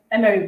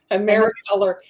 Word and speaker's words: Americolor: Emery brand. Am I saying it right? Americolor.